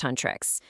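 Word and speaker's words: Huntrix: So, our heroes are the girl group Huntrics, pronounced Huntress.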